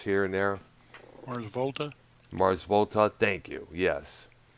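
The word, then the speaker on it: The Mars Volta: He also did for some of the bands like Muse, the Mars Volata. I think that's how that band is pronounced here and there. Mars Volta.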